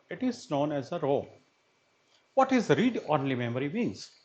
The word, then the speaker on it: ROM: A read-only memory, which is abbreviated with ROM and rhymes with the MOM, is an IC that can store thousands of binary numbers representing computer instruction and other fixed data.